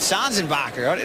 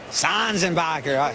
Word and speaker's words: Sanzenbacher: And how about Sanzenbacher? That's not how you say it. No, I say Sanzenbacher.